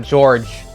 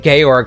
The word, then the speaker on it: Georg: into by the way his name was not George and tsuka and two it was Georg not Georgia but for some reason they decided to pronounce it George for second of five so